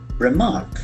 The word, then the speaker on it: remark: Remark. Remark. Here also we can see that accent falls on the second syllable.